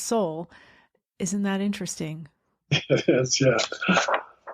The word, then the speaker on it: Seoul: It's spelled a little differently, but it's still Seoul. It's pronounced Seoul.